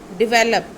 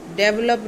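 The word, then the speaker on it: develop: Okay, the next word is डिवेलप. डेवलप नहीं, this is डिवेलप.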